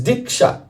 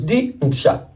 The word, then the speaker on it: Diksha: So, in this phrase, Diksha, there are two syllables, Diksha. Di means Dibya Jnanam, transcendental knowledge.